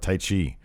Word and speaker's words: Taichi: Suzuki Gun was because he had I love Taichi. Yeah, that's how you say his name. Yeah, I thought it was the martial art Tai Chi, but it's Taichi.